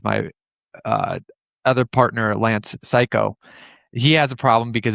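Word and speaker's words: Cayko: uh other partner Lance Psycho. He has a problem because it's C A Y KO and you know he pronounced it psycho.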